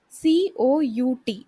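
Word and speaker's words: cout: c out hello world c o u t it should be pronounced like c out c out is an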